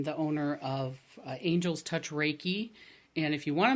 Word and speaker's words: Reiki: our audience I've introduced you as a a raiki master and a ra raiki teacher for somebody